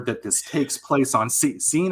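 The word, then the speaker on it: Seine: this takes place on scene I think is how you I think it's pronounced the San River insane s yeah yeah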